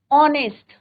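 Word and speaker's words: honest: बताया आर का ऑनेस्ट अब ऑनेस्ट की स्पेलिंग क्या होती है बच्चों एच ओ एनई एसटी अब यहां प क्या है बच्चों एच इ र ने पर हमारा साउंड क्या आ रहा है बच् प्रोनंसिएशन क्या है ऑनेस्ट तो हम नेस्ट बॉय नहीं बोलेंगे हम कहेंगे राम इज एन ऑनेस्ट बॉय क्यों लगाएंगे बिकॉज यहां पर एच is your silent H क्या है आपका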